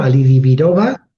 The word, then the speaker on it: Alidibirova: Ali Alioba. Ali. Bueno, lo pronuncia ella. Bueno, son son dos apellidos, ¿no? Alidioba, sí.